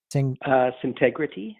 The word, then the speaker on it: Syntegrity: Also, for my listeners, you can go to their website, which is Syntegrity, or let me pronounce that for me, would you? Syntegrity.